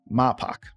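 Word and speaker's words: Mapach: Mapak. Pak. Okay. Like faux hawk. Mapak.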